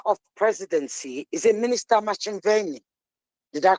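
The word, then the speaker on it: Ntshavheni: Minister of Presidency is a Minister Machinveni. Did I pronounce it right? Nchaveni. Did I pronounce it right? Minister in the Presidency, Chaveni, yes.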